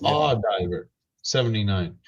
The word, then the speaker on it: AU Diver: Because that's how he wants it pronounced. That's how, if you ask him what his channel name is, it's Aw Diver 79.